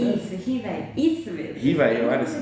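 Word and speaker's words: Rivail: Hipolit Leon Denis Rivaí. É isso, né? Isso. Rivaí. Isso mesmo.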